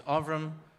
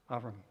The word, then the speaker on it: Avram: It's Avram. There you go. Avram. But if you're from Revenue Canada, it's spelled, no, just kidding.